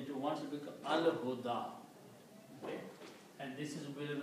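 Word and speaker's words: الهدى: one, so it becomes al huda. Okay. And this is will be written like that, al huda. Can be written like that. This ya is not pronounced, the alif is pronounced.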